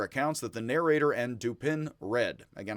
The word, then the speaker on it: Dupin: that the narrator and Dupin read. Again, I'm going to call him Dupin, not Dupin, Dupin. I'm just going to pronounce it like an American, Dupin, because he's duping us all the time.